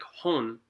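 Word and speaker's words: 本: Like each kanji, like hon is book, right? Which is a kanji, but it's written, it's pronounced as ho and right? But ho and n have to have the same amount of time that you're saying them, even though n is technically shorter.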